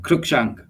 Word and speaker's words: Crookshank: Crookshank. Crookshank, like the villain, Crookshank. like a burglar, a crook.